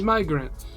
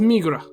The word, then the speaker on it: Migra: nickname we have for my uncle it means migrant but it also can mean Border Patrol my